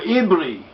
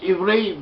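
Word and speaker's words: עברי: in both cases, and this letter may be pronounced either way according to the known phonetic general rules, which do not reflect on the meaning of the word.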